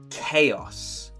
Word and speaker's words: chaos: Chaos. The H is silent. We don't say, we say chaos.